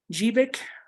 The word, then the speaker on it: GBIC: plugged in a the gbic pronounced jeevik was a standard type